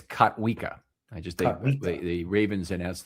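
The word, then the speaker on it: Kotwica: By the way, it's Katwa.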